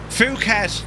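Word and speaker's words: Phuket: Fuket, that's how you pronounce that. Not what you thought.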